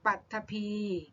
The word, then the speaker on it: ปฐพี: นั้น ด้วย อย่าง เช่น ปฐพี อ่าน ว่า ปัถพี และ ใช้ คำ ว่า